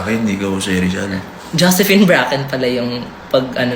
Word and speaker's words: Bracken: Ikaw si Josephine Brachen para sa akin. Ikaw Jose Rizal. Josephine Bracken pala yung pag ano npronounce mag-pronounce.